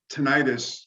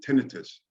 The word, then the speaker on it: tinnitus: Actually, just on pronunciation, NJ, we pronounce tinnitus. Usually, the professionals, the audiologists and ENTs will pronounce it tinnitus.